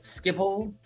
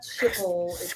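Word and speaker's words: Schiphol: to afterlang we landed at Amsterdam I can't pronounce it skip hole it's got the in it but it's not well it's not Chipotle honestly you should be better at trying to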